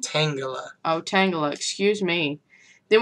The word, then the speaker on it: Tangela: Butchered the name again. Tangelo? Tangela.